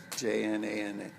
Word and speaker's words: Jnana: We have what they call jnana, basically, Jnana. It's pronounced jnana, like in Spanish, like a N-A, and that's mental learning, wisdom yoga, right?